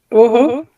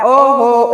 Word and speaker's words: Ohouo: So, Woho, correctly? How correctly? Oh, yeah, you almost got it. It's okay. The H is silent. So think of it like oh ho, like ho ho ho, like Christmas.